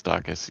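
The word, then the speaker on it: Daukaus: and Kyle Douse, Dacus or D. Yeah, whatever. Yeah, there was actually Dus or whatever you however you say that. That's right. It's Dus. You said it right.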